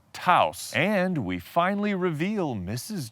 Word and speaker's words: Taos: time for that homework I attempt to pronounce the word Taos correctly Taos house Volkswagen Taos and we finally reveal